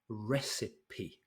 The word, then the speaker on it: recipe: go number one one is recipe recipe three syllables here so this lady is